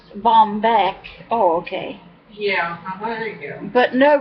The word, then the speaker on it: Baumbich: to say that word Charlene and Bombeck whatever pronounced Bombeck oh okay yeah but